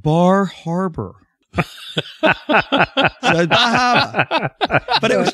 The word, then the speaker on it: Bar Harbor: No, it's Bahaba. Oh, Bahaba. Oh, Bahaba. That's a great place. Bahaba. It's, I think in Ohio, they pronounce it Bar Harbor.